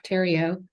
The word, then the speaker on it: Terrio: Terrio. That's how you pronounce her name.